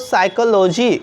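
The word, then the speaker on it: psychology: आ रहा है ना इसलिए यहां पर इस वर्ष में हम लोग पी का उच्चारण नहीं करते हैं यहां पर पीस साइलेंट हो जाता है ना तो इसे क्या पढ़ते दोस्तों साइकोलॉजी क्या पढ़ते हैं साइकोलोजी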